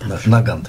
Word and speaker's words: Nagant: to jest belgijska broń Nagant Nagant pisze się Nagant ale się czyta nagan ale kamrad Mauser Zresztą